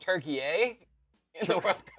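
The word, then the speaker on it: Türkiye: It's pronounced turkey a really.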